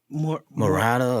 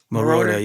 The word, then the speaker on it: Moroder: Giorgio Murata or something like that. Moroder? I don't know how yeah, to say it. yeah. Say it? Moroder, yeah.